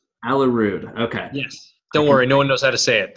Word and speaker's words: Aalerud: and how do you say your last name alla rude alla rude okay yes don't worry no one knows how